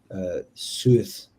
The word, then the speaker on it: Seth: So the meaning of the name Set is unknown, but it's thought to have been originally pronounced Suth, SUW.TIX, based on the spellings of the name of the Egyptian hieroglyphs of STH and SWTH.